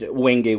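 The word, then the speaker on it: wenge: It's w n g e. That's how you spell it. Triple pin. Now, the reason they said they used wingay wood was its ability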